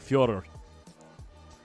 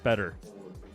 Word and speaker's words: Fedor: Fedor is a Russian name. Yeah, it's pronounced like, I can't pronounce it correctly, but the closest I can get, it's more like Fyodor. The American or English pronunciation is Fedor.